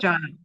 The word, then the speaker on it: Jan: First name is Jan. Oh, so it's just pronounced Janna. Pronounced Janna. Yeah.